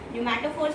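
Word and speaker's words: pneumatophores: न्यूमैटोफोर्स बेटा पी से लिख रही हूँ. पी इज साइलेंट, साउंड नहीं निकलेगी.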